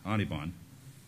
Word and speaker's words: Anirban: So I brought Anirban, don't pronounce the R, Anirban, to reminisce the swoop